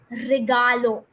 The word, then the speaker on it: regalo: There's no accent mark. It's an easy word. So we can say it together again. Regalo. Regalo. Regalo. You don't have to sing it like me. I'm just pronouncing it. You have to pronounce it as regalo. Straight regalo. Now let's move to the